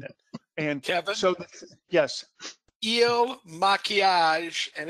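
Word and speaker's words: Il Makiage: Was it El Maquillage? Am I saying it right now, Ken? Eel, like a fish. Il Maquillage.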